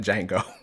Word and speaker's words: Django: Joe, not Django. No, not Jingo. Said the D is silent, not Django.